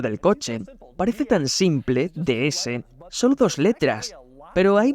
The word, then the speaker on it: DS: En francés se pronuncia de es, que suena exactamente igual que la palabra francesa para diosa.